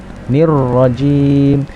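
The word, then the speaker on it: الرجيم: dua harokat nirohim nirojim nirojim ada huruf tasydid versi disini mata harus tekan nirojim pelafalan vukro Hai bergetarnya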